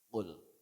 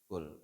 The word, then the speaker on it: qul: Sebab hurufnya, makhrajnya adalah huruf qaf, maka harus jadi qul. Jangan kaf, ya kaf jadi kul. Berapa banyak orang baca trikul ini bacanya pakai kaf. Kul. Sebab yang dimaksud itu dalam Al-Quran huruf qaf, qala yaqulu qul, artinya katakanlah. Kalau pakai kaf kul, asal katanya akala yaqulu kul. Akala artinya makan, itu pilih amr, makanlah berarti.